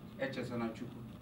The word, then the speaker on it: Echezonachukwu: And I said, "Echezonachukwu."